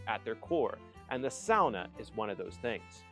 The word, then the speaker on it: sauna: might be asking is why is he saying sauna as sauna and the reason I'm saying sauna as SAA is because this is the correct pronunciation because the term